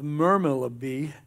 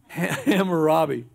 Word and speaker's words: Hammurabi: city of susa and discovered the code of mermail of bee etched in a stone tablet i misspell i mispronounced that there you go thank you justin hammurabi uh hammurabi lived in 1795 bc now in